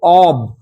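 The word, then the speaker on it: of: প্রত্যেকটা এসে অফ study, অফ travel, প্রত্যেকটা এসে কিন্তু অফ দিয়ে শুরু। যদিও আমরা উচ্চারণটা অফ অফ করছি, এর উচ্চারণ কিন্তু অব, নট অফ।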